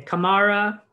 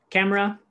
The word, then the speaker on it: camara: we have lantana camera you can say kamara camera you can pronounce these however you want i recommend you pronounce